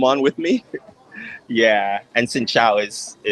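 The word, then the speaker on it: xin chào: Xin chao is how you say hello.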